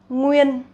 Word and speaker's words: Nguyên: So we got Nguyễn and Nguyên. Nguyễn, Nguyễn with dấu ngã and Nguyên, Nguyên with no tone.